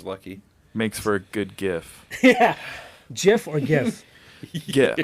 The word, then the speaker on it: GIF: I'm like, I But say I GIF. think I go with actually, GIF. I think actually the guy who invented GIFs or GIFs? GIFs, I think he pronounced it GIF.